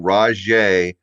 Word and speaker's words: Rajay: He's got the J in there, so I just gotta say Ra, first.